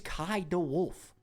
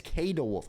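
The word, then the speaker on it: Kay de Wolf: I'm like, guys, it is Kai De Wolf. People are saying it's K De Wolf. I'm like, have you ever heard anybody said K?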